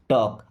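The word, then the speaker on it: talk: टॉक। अब इस word में एल साइलेंट है।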